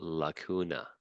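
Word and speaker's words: lacuna: the weird name they are called launa that's how you pronounce it and plural would be with an E okay and these are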